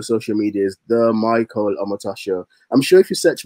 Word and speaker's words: Omotosho: Omotosho is O-M-O-T-O-S-H-O. Omotosho. It sounds Japanese at times, but yeah, it's Omotosho.